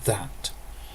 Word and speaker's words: ðæt: The word is pronounced that. So the difference between the adjective and the pronoun is the first letter, that as the adjective and that as the pronoun.